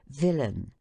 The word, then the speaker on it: villain: in a i n the accent is placed on the former syllable as villain which is pronounced as the natives of White Chapel pronounce willing those D syllables the